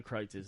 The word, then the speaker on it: Kreuz: If you want quality, But if you go compare to meat, Kreitz's.